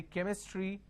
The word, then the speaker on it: chemistry: cheek cheer chair chair but here I say chemistry Chrome you are obviously bound to get confused now the question is why